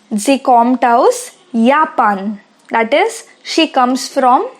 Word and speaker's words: Japan: Remember that the alphabet J is pronounced as Y in German. So it becomes Japan. Sie kommt aus Japan.